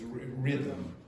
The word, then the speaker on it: rhythm: It's rhythm. Rhythm. Okay. So, the second H is pronounced because it's a th. It's not because it's a h. Okay. It's rhythm.